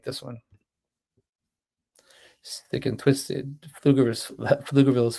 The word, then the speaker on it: Pflugerville: Thick and Twisted, Pflugerville's finest, the P is silent.